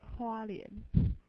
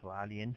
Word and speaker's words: Hualien: Hualien. Hualien, okay. I have trouble pronouncing it.